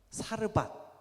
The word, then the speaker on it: 사르밧: 이게 서로 다른 지명이 아니라 여기서 그 오기 틀리게 기록을 한 게 아니라 사르밧은 히브리어고 이 사렙다는 그 아람어예요. 그래서 이제 발음상의 차이인 거지 같은 단어입니다.